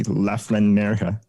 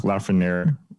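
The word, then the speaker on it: Lafrenière: honest because series one alexey laflanerga or alexi lafoner in the butchered us pronunciation uh in reference to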